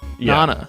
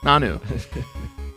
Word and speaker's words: Nanu: of Croc rocks Gran Kahuna Nana nanu Nana yeah we were way off on Nana here you're way off